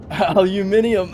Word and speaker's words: aluminium: Actually, if you do a quick search, both pronunciations are correct because I think there's technically 2 different spellings. So aluminium, jeez, my brain could not even do it. And aluminum are both the proper ways of saying it, interestingly enough.